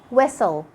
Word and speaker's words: whistle: Letter T is silent when it comes after an S in words like castle, whistle, listen, fasten. And with the last letter we have today, letter W.